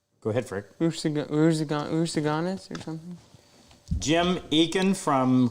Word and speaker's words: Rusagonis: I can't pronounce that French word. Rishabuktu. No, it's Rusagonis. Go ahead, Frick. Rusaganis or something?